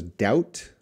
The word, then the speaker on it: doubt: schwa between consonants Laila how to pronounce s doubt because the B is silent I have doubt doubt you don't want to say that B Laila doubt doubt Omani